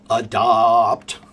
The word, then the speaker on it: adopt: Yes, adapt, This is why you should learn to sing. Adapt, adopt. Take those words, and when you sing the vowel, make it long.